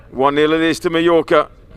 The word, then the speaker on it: Majorca: a j on it majorca so it's mojoka but it's double l in spanish but we put a j on it so when i've been an oldie i went to majorca not my locker all down the line